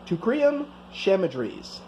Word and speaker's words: Teucrium chamaedrys: But anyway, its scientific name is Teucrium chamaedrys, which is a lot to say. I had to verify that pronunciation.